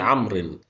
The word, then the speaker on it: عمرو: الواو تكتب ولا تنطق في الرفع نقول عمرو رجل شديد هلاحظ بان الواو هنا زادت في حاله الرفع طب في حاله الجر هلاحظ غلط بانها زادت على سبيل المثال اخذت الكتابه من عمرو اما في حاله النصب